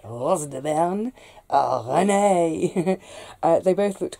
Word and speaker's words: Rose de Berne: But when I was planting the Amish paste and the Rose de Berne, I have to say it like that, Rose de Berne, oh, René, they both looked quite similar.